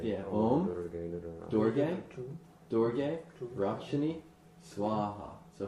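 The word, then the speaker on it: स्वाहा: Om Durga Durga Rakshini Swaha. So Durga is said twice. Om Durga Durga Rakshini Swaha. Notice that Swaha, they're long A's. Swaha.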